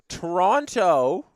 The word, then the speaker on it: Toronto: Toronto, all the T's is pronounced there.